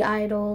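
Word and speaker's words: (G)I-DLE: it's like the G Idol like with the parentheses in the - but I they're the way you pronounce it is Idol so if that helps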